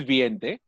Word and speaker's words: veinte: So the I is silent. When? Okay. Oh. The way you pronounce it, the I is silent. Okay. When. Oh. B-E-N. When. Yeah. When. The pronunciation will be how you write is Viente. Okay, Veinte. But you pronounce it without the I.